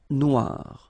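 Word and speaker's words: noire: So it's quite funny because you will have to add this uh at the end of noir for the feminine form but then you don't pronounce it. Okay. So phonetically it is exactly the same.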